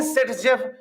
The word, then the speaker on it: Zaitsev: Sir, you are saying Sedgev and you are writing this ZAITSEV because name is this, pronunciation is this. So this Sedgev is actually pronunciation, name is ZSF.